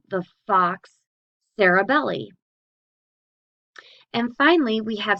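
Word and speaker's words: falx: longitudinal fissure the Fox this is kind of pronounced F a w KS the Fox cerebri that's found within the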